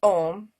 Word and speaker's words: om: people if you're gonna spell it out it would be a u m followed by silence and if you say ohm you'll hear the uh in the back of your throat so just say om